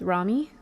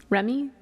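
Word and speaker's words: Rami: With u is it pronounced Ramy? Remy. Rammy Malik.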